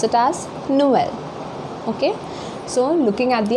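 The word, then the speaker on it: Noël: Okay, for example, here we can pronounce this word as Noel. Noel, which means Christmas. It means Christmas. We pronounce it as Noel.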